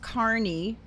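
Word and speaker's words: Kearney: And then there's a Kernney uh New Jersey, but I believe it's pron here it's pronounced Carney.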